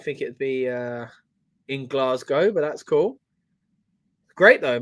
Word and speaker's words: Glasgow: so yeah really good he pronounced glasgo right who did was that uh Michael Co because he usually says glass cow doesn't he I guess